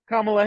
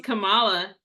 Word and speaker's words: Kamala: So like Kamala Harris, she puts the emphasis on the first syllable, Oh, but okay. Kamala Khan, No, she's Kamala. Kamala, yeah, Kamala Yeah. Khan, she puts the emphasis on the second syllable, and so Yeah, easy